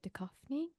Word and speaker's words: Duchovny: David Duchovny. Is that how you say it? Did I Yes, say it? please. Did I say it correctly? Yeah, David Okay. Duchovny, nailed it, And nailed it.